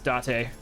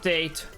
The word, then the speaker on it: Date: His name is Date. Not Date. Date. That's how you pronounce it in Japan.